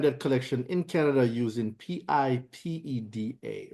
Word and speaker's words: PIPEDA: I'm gonna call this PIPEDA. All right. So if I'm saying it wrong, guys, don't judge me. PIPE, that's pipe DA, that's that. I'm gonna call it PIPEDA.